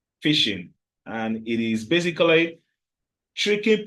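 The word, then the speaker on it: phishing: h i s h the pronunciation goes like normal fish that you eat fishing but the spelling goes p h i s h i n g fishing and it is basically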